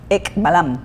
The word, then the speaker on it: Ek Balaam: How do we pronounce it? Ek Ballam.